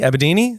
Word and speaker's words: Abedini: Abedini? Yeah, wow, you actually said it right. People always fuck it up.